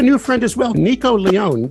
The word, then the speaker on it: Leone: And we have a new friend as well, Nico Leone. That is correct pronunciation of your name, sir. That's Leone. It's mispronounced Italian. Oh, Leone, Nico Leone.